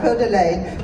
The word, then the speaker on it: Coeur d'Alene: I said it right, Coeur d'Alene, which means the heart of the owl, if anybody didn't know that.